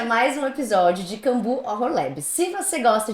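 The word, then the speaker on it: Cambooh: tipo bu de susto. Cambu.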